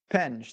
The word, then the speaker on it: Penge: Penge. There you go. I like to add the E. Penji? Penji. Well, it's like I believe it's pronounced Penge, but that's me.